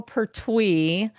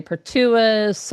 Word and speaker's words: Pertwee: but my name is Pertwee, which is a Pertwee, I very would have never unusual. I got know, that. no, nobody ever says that. The way it's spelled, most people say Pertuis or Uh-huh.